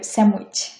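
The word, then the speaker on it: sandwich: পরের শব্দ হচ্ছে স্যান্ডউইচ, এটা হচ্ছে হবে স্যামউইচ, স্যামউইচ, স্যামউইচ, স্যামউইচ।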